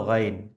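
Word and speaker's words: غين: এবং তার পরবর্তী অক্ষর হলো গাইন এবং এই গাইনও কিন্তু কন্ঠনালির ভেতর থেকে বেরিয়ে আসবে এবং তিন আলিফ বরাবর টেনে পড়তে হবে আচ্ছা উচ্চারণের ক্ষেত্রে মোটাভাবে আওয়াজ বের করতে হবে এটা মাথায় রাখতে হবে আচ্ছা তারপরের বর্ণমালা হলো ফা।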